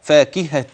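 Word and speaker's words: فاكهةٍ: كسره اخرى اسمها التنوين هذه اذا تلفظت بها فاكهه تن في اللفظ ايوه نعم نون مثل النون السابقه في اللفظ ولكن ليست في الخط فانتبه لذلك ماذا سنفعل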